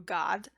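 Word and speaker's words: Gad: His name is pronounced actually in Hebrew God, because that doesn't mean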